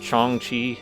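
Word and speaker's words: jiangshi: do you pronounce it i know it's spelled like jiang shi but i think it's pronounced chongqi it's like a undead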